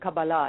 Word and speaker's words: Kabbalah: So obviously I'm pronouncing this incorrectly because you're saying Kabbalah instead of Kabbalah.